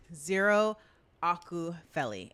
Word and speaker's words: Ziiiro Akupheli: So tonight, my special guest is none other than Ziiiro Akupheli.